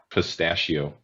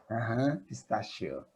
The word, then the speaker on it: pistachio: it's we pronounce it pistachio instead of this this ch turns now to a shh pistachio special pistachio very good